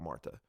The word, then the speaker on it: Martha: Actual Martha, I keep saying Martha because that's just the... Yeah, it's how it's pronounced.